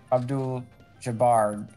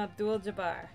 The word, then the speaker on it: Abdul-Jabbar: gonna impress you no I was born again Abdul jabard is that how you say his name Kareem Abdul-Jabbar oh I like they were doing this whole